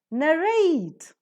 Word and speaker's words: narrate: e and c t obviously they take up the stress on the last syllable rate narrate similarly is ioc i